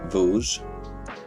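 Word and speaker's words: Vosges: So, um, tonight I've got a sample coming from a small mountain lake in the Vogge Mountains of France. It's a terrible name. Voj.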